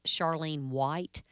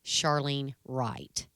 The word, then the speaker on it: Charlene Wright: from seven years ago it might appear if her name is pronounced Charlene white however it is Charlene Wright I wish I were